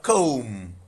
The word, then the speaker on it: comb: We have comb. Option A. Comb. In comb the B is silent.